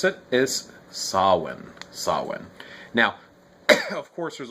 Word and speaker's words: Samhuinn: the word itself so sawin saw when the interesting thing about the way it's pronounced is it's actually a scottish gaelic word apparently and the mh actually makes a w sound or if it's at